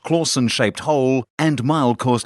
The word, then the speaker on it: Clausen: terrible Batman impersonations at Charlie claussen pronounced Clausen shaped hole and mild